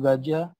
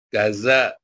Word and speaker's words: Gaza: pagi hari ini berjudul gajah kata tanah silakan por Paul Bukan gajah R tanah Pak gaz Iya iyauh karena orang di Indonesia baca z-nya bacanya C ya jadi gajah rasa Tan